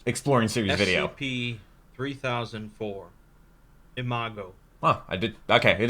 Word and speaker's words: Imago: right my first exploring series video SCP 3004 Imago oh I did okay it is pronounced like thato is a Latin word meaning